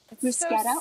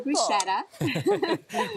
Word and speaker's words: bruschetta: And then you just top it with your bruscetta or bruschetta. Respect. Thank you. And I think I've been saying it wrong my whole entire life.